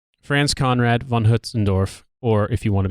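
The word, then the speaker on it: Hötzendorf: for the record the guy's name is actually pronounced France Conrad Von Huts andorf or if you want to be really fancy France Conrad Von huts andorf hell hello here I am laughing up something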